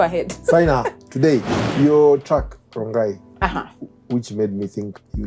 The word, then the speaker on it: Rongai: So why do you call it Rongai? It rhymes with lie.